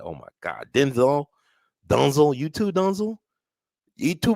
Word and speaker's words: Denzel: His mama says it's pronounced Dunzel, not Denzel. We've been saying it wrong.